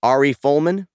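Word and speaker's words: Ari Folman: this is a film directed by i'm gonna butcher the name arie fullman yes oh that's right yeah you got it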